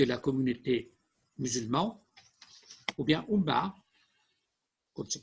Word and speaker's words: Ummah: Et que la communauté musulmane, ou bien Ummah, comme c'est prononcé en arabe, est représentée pour le régime islamique comme une nation islamique du monde entier.